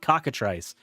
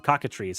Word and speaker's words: Cockatrice: Gathering you can play something like cockatrice or cockatries however you want to pronounce it there's ways of playing